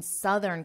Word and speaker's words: southern: Now, notice my pronunciation and listen to the difference. I'll say it again. I live in southern Canada. I live in the south. Notice how that vowel change. This only changes for southern and south.